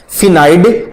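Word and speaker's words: स्फेनॉइड: फिनाइड अस्थि। इसमें S silent रहता है, तो दूसरे का राइट आंसर हो जाएगा बी।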